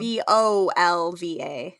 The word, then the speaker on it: volva: And it's spelled V O L V A. Yes. But it's pronounced vulva. Like a volvo.